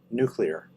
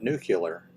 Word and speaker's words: nuclear: I mean, ever since I was a kid, I knew how to pronounce the word nuclear. Nuclear. It's not nuclear.